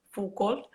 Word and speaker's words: Foucault: Bueno, lo he pronunciado así un poco Foucault, es que Sí, es un sí, poco sí, de sí.